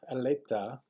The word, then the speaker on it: Adelita: Trumpets, so we're looking at La Adelita, Adelita, that's how you say it.